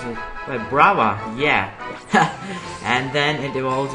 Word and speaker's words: Vibrava: And Trapinch evolves into Vibrava. No, that's not how you pronounce it. Vibrava, yeah.